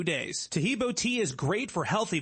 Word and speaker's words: Taheebo: Taheebo is spelled T like Tom, A-H-E-E-B like boy. Oh, that's Taheebo, and then continue with the word tea, and then the word club.